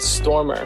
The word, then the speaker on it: Stormur: here at Alt Nation, but this song called Stormer, which is spelled Stormur, is definitely one of Sigur Rós' more upbeat songs, but it's also one of our favorites.